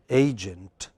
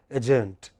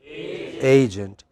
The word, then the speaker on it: agent: In this word, in the first word, which syllable is prominent? A. So, how do we pronounce it? Agent. But you know, many of us by mistake pronounce it as agent. That's not correct.